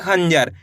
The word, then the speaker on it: खंजर: जाएगा खंजर कैसे पढ़ेंगे खंजर तेजी के साथ आपको इसका उच्चारण निकालना है यानी कि आधा न का उच्चारण तेजी के साथ निकलेगा एक बार फिर से